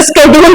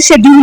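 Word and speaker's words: schedule: लोग स्केड्यूल बोलते हैं, तो जो स्केड्यूल बोलता है वो ज्यादा पढ़ा लिखा लगता है रादर देन जो शेड्यूल बोलता है। बट अगर तुम उसको गूगल पे लिखोगे ना, तो ज्यादातर वो शेड्यूल ही प्रोनाउंस करता है, उसको स्केड्यूल प्रोनाउंस नहीं करता है, ठीक है। टेक्निकली वो सिर्फ थोड़े वर्ड्स में चेंजेस ले आता है, लेकिन जो स्केड्यूल बोल रहा है वो ज्यादा पढ़ा लिखा है, क्योंकि वो उसको स्केड्यूल बोल रहा है, ठीक।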